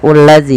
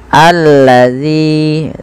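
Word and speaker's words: الذي: Ini bukan dibaca ulazi ya teman-teman, tapi kita bacanya ketika ada hamzah atau alif di awal bacaan dan tanda seperti ini kita baca dengan a ya. Allazi, panjangkan zi 2 harakat karena mad tabi'i.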